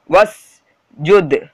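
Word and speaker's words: واسجد: அடுத்தது பாருங்க, வஸ் ஜுத், அது வாஸ் வா பக்கத்தில் அலிஃப் இருக்கிறது இல்லை, வாஸ் ஜூதுன்னு படிக்கூடாது, வஸ் ஜூத் தான் படிக்கணும் ஓகேங்களா. வா பக்கத்தில் இருக்கிற அலிஃப் சைலண்ட், வஸ் ஜூத் சொல்லுங்க, வஸ்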